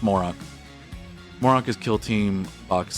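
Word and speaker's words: Moroch: Mor Moro Moro Moro I think it's pronounced morok Moro is kill Team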